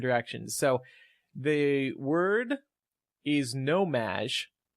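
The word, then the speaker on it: No-Maj: So the word is nomaj. It's spelled N-O-M-A-J, but pronounced Madge, like Madonna's nickname.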